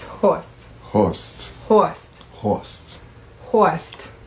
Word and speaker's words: Horst: Let's have you pronounce some German names. Hoist. Hoist. Hurst. Hurst. It's Horst.